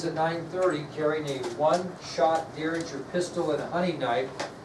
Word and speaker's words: Derringer: Derringer, if you're interested, is spelled D-E-R-R-I-N-G-E-R. So it's D-E-R Ringer, basically.